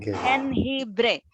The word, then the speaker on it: jengibre: Jengibre. J is he, G-I is he, jengibre. Jengibre es estos días, en estos días de pandemia, nosotros tomamos mucho de jengibre en la comida. En la comida tenemos jengibre, ajo, como una infusión